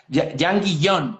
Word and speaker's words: Jean Guillaume: Jan Guillón, se pronuncia así.